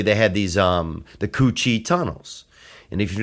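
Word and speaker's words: Cu Chi: they would really they had these um the Coochi tunnels. And if you're not familiar, you can look that up. And that's spelled C U C H I think separate words, but the Coochie tunnels where the Vietnamese would hide in the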